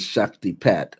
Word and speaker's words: Shaktipat: I talked about how I received what is called a Shakti Pa. Shakti Pa. It looks like it says Shakti Pat, but it's pronounced Shakti Pa.